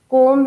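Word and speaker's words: comb: कोम है, कोम में ब आपको स्पेलिंग में दिख रहा है बट बी की आवाज नहीं आ रही, इसीलिए सिर्फ क ओ और म ही बनेगा, ब नहीं बनेगा, ठीक।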